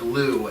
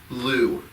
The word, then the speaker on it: Lugh: It is the festival of the Celtic god Lugh, L-U-G-H, a sun god.